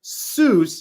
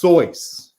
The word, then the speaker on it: Seuss: soyuz that's how you pronounce his name everyone calls him seuss and he just went with it he was tired of explaining it who heard where'd you get look it up these are facts this is not fake news that you love corny these are facts it's soyuz i'm just here to